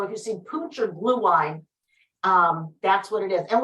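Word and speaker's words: Glühwein: It's, and I don't speak German, but I believe it's pronounced blue wine or mulled wine.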